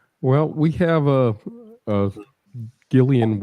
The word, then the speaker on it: Gillian: we have a uh Gillian Welch song I used to pronounce Jillian until I met Karen and she corrected me uh but anyhow the